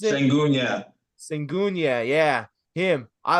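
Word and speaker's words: Şengün: Is that how you pronounce it? Sengun, yeah.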